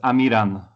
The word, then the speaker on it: Amiran: your name uh well everyone says it in a different way but it's amiran it's it's georgia and